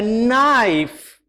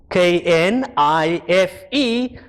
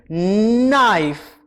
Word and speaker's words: knife: going to need a knife knife kn plus i f e i f k n i f e knife and remember it is not knife because the k is silent so i cut the